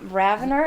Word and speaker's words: Raviner: Okay, Okay, so RAVINER is actually an old French word. Ah, the birth of a notion. Ah. Austin, you want to pronounce it in French? Raviner.